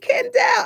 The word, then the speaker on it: Kendéll: But when you would say, "Hey, Kendelle," I said, "See, that's my people.